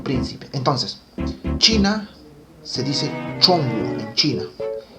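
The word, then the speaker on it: 中国: Y China, en chino no se dice China, sino se dice Chongguo.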